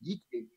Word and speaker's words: I Ching: The I Ching, sure, pronounced I Ching, right?